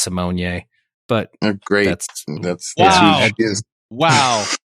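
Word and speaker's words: Raven-Symoné: last name is actually pronounced Simone.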